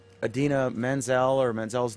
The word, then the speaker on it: Idina Menzel: Travolta tried to pronounce Idina Menzel, or Menzel's name, and pronounced it, instead of I don't even know how to pronounce it, but Adina You Menzel. pronounce it just like it's written.